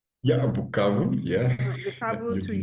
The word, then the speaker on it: Bukavu: Bukavu, that's the right pronunciation? Yeah, Bukavu.